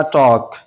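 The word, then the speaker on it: talk: इसी तरह टॉक टॉक एल के बाद के आया तो ये एल साइलेंट है।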